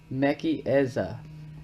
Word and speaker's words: Mechezah: says the old Strong's Bible concordance gives the pronunciation as mechi eza and defines as a window thus also light so her name Meza or I've been saying mcheza I'm going to show you online so you